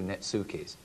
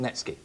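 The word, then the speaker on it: netsuke: me up and say I've got a few nukis it's all in the pronunciation because because it's spelled that way it's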